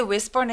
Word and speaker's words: whisper: WH일 때 보통 H 소리 사라져서 whisper라고 소리 많이 냅니다. Whisper보다는 whisper.